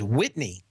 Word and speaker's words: Whitney: in the den that you pronounce mr. Tilson's first name as Whitney but you have to do it with a kinetic Connecticut locked jaw mmm little ssin whereas